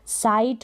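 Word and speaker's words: sight: भी आपको यहाँ पर मिल जाएंगे, जो बिल्कुल साइलेंट रहते हैं। देखें यहाँ पर साइट हो गया, लाइट हो गया, ब्राइट हो गया,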